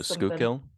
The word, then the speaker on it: Schuylkill: Literally all I'm thinking about is this river in Pennsylvania that's spelled one way but pronounced a very different way. It's like skull. Oh, Schuylkill?